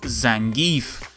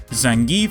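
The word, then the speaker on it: Zangief: of her wrestling Idols zangie or Zang look I pronounce it as zangi okay I've been saying it that way since 1990 bloody one all right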